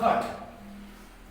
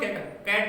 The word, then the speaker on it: cut: ये लो कै और ऐसे करके खट का उच्चारण होगा, खट, तुरंत कैट नहीं बोल सकते, खट सीधा, एक वाले हिसाब से हो गया, ये उच्चारण है आपके।